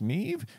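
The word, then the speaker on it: Niamh: it right NE just NE i v h Neeve just says so ready for this a perfect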